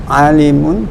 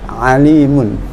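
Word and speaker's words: عليم: Contoh ya, misalnya Allah berfirman ya, kata alimun ya, kata alimun ya, di Al-Qur'an itu ada alimun pakai ain ya, alim ya, innallaha alimun misalnya.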